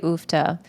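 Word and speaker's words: uff da: Let me just clarify this for those of you that say ufta. If you're not Norwegian, that's where it comes from. The Norwegian parts of the world, which are also known as Norway. Um, and it's spelled UFDA.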